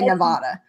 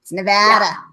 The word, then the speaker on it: Nevada: you sing about it corrected immediately upon moving here on how you say it because I used to say Nevada it's no bad Nevada you could sing it